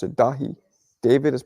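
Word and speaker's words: Dáithí: heard that from a few Irish people they pronounce it dahi David has pronounced dahi Patrick is pronounced poig I I know you're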